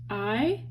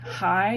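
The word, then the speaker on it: hay: with there's a guy i Boone muchacho I means there is or there are that's pronounced I not high and not hey his name is Roger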